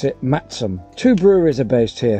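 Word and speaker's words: Masham: there's a van cake cake cake the term phonetically is mashem although locals pronounce it Maxim two breweries are based here theekstones and black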